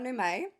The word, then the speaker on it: Numeay: So, my name is Numeay. That's how you pronounce the last name.